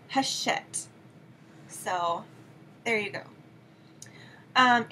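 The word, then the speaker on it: Hachette: published by poppy which is an imprint of hatchet or haset I was schooled in how to pronounce that publisher it's haset so there you go um anyway it's called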